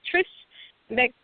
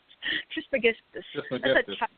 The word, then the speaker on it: Trismegistus: Hermes, I always mispronounce it, Trismegistus. Trismegistus. Yeah. Hermes Trismegistus.